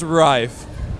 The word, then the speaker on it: Rive: How do you pronounce the name of this game? Is it Rive, Live and Survive, what? It's Rive. Rive, Yeah.